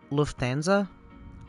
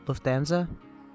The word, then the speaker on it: Lufthansa: i've ever been on was i think you pronounce it that lufthansa lufthansa it's a german company they were really good